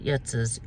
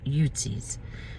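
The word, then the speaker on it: Yutzy's: i said it wrong utsis not yetza's yutzis so it is only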